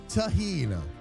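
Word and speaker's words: Tajín: Taheen. That's how it's pronounced. The J is an H sound.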